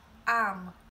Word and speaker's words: am: say time in irish time in irish is simple just two letters a and m so um and how do you